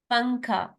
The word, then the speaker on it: पंखा: पंखा, अब इसमें नून जो है वो साइलेंट है, इजंट इट.